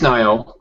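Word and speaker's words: Nioh: and I played the Nio demo. I've got some issues with it, which I went over in great detail on the Basement Radio Arcade podcast. Is it Nio or Nio? It's Nio.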